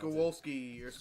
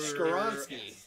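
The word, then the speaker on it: Skoronski: Skowalski. How do you say it, Skowalski? Peter For- Skoronsky.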